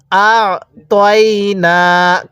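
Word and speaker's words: أَعْطَيْنَا: পড়ুন বলুন এরপরে পড়ুন অনেকেই তাই না পড়ি এরকম ভাবে পড়বো না কিভাবে পড়বো আতাইনা কাল কাউসার হ্যাঁ আরেকবার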